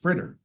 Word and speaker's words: FRITR: spelling of the F RIT T departure is pronounced fritter the stars on the board are the locations